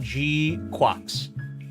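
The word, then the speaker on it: GQuuuuuuX: the stream elements for a dollar how to pronounce Gundam G quacks gqu G quacks G it's gqu I still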